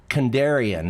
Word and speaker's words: Kandarian: But, and then we have Paul Kandarian. Is that correct? Yes, it is. You pronounce it very well.